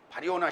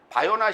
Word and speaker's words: 바리오나: 사두개인도 바리오나 시모나, 네, 바리오나 시모나, 바요나 시모나가 아니라 바리오나 시모나. 근데 이게 왜냐면 바리오나 시모나가 맞는 거예요. 네. 바르와 요나의 합성어예요. 바르가 아람어로서 아들이라는 뜻이에요. 그러니까 바르요나, 바르요나예요. 그러니까 바리오나지. 정확하게 발음됐죠, 헬라어로.